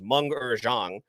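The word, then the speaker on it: Meng'er Zhang: shout out to um i looked up the pronunciation of her name because i wanted to say it correctly which is manga zhang who played jai ling who is shang chi's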